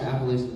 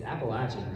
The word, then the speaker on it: Appalachian: I've always said Appalachian. And he was like, yeah, I said Appalachian when I got here, and no one would buy anything from me because they said I said it wrong. And so they say Appalachian.